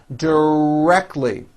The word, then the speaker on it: directly: Directly. 3 syllables, and most Americans drop the T.